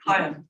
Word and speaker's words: Chaim: closely associated with and a close friend of Cam Weissman. Cam Weissman. Chaim, it's Chaim, actually. Fine. Chaim. The key is silent.